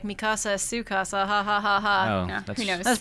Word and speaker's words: Mikasa: brother and sister also Mikasa that is how you pronounce her name in the Japanese version in English I think the dub it's like mikusa and so every time